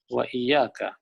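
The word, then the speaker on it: وإياك: Wa iyyaka. Mungkin dia cakap iyyak dalam Al-Quran. Dan juga kepada kamu. Iyyak macam tu bunyi dia.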